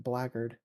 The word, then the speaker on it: blackguard: It's a difficult word, but apparently it's pronounced blackguard.